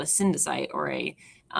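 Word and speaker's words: cnidocyte: thing is called a syndicide or a ninja site actually because it's like cnidarian um you don't pronounce the C um there are two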